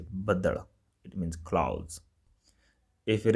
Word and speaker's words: ਬੱਦਲ: In Punjabi, it's going to be badal, all right? So pay attention on the pronunciation. Some people say badal.